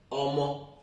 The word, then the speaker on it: Omo: which is the child, Omo, everybody will just write O-M-O. It will get you Omo. It's as simple as ABC. If I say Omo, everybody will just use the English part of it, the pronunciation of English,